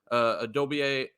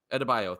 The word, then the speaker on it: Adebayo: Adobio. How do you say his name? Adebayo.